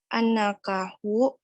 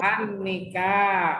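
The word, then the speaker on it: النكاح: Wa an Abi Hurairah radhiyallahu anhu qala Rasulullah sallallahu alaihi wasallam salatung jiddu hanajidun wa hazuluhunna jiddu annakahu wa talaku. Annika. Yang benar bacanya annakah ini.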